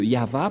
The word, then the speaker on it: Yahvah: ce terme au début alors que selon les Hébreux ce terme se prononce y ah et lorsqu'on va le regrouper avec le va ça donne qu'est-ce que ça donne nous allons écrire en jaune ya y et et va V voilà le nom de yava prononcé par le